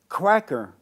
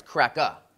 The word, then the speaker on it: CRACKA: so i got to talk about your movie cracker when you said cracker are you talking about white cracker yeah yeah and you're going to say it right it's crack up yeah cracker white cracker yes amazing and so